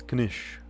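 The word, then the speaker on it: quiche: So it's kish. Yeah, you do pronounce the k.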